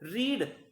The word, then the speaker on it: read: रीड की first form भी यही है और सेकंड फॉर्म भी यही है, प्रोनाउंसिएशन बदल जाएगा, READ प्रेजेंट में बोलना होगा रीड कहेंगे, पास्ट में बोलना होगा रेड कहेंगे, ठीक है।